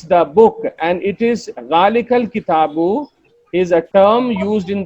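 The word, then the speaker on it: ذٰلِكَ الْكِتَابُ: Hamza will drop and it will ask the Ka sound to come and meet the Lam sound. Zalikal kitabu. Zalikal kitabu. It will not pronounce it as Zalika al kitabu.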